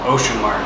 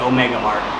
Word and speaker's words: Omega Mart: yeah Omega Mart uh I keep saying it wrong that we have a a market this local to us called ocean Mark so sometimes I call it ocean Mark but no it's definitely Omega Mark so if I make